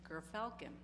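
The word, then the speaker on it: gyrfalcon: I didn't know how to pronounce it, so I looked it up and it's gerfalcon.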